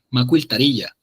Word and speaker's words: macuiltarilla: Macuiltaría, se pronuncia más bien tarilla, con una pequeña Y acá, pero por cuestiones ortográficas, como habíamos visto, no se lo vamos a poner, pero sí, macuiltarilla.